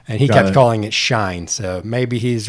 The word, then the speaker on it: SHEIN: I don't know, but I would say that Shine is definitely the way that Americans are going to pronounce it. Yeah, probably. Shen sounds more Chinese than Shine. Yeah. I would call it Shin.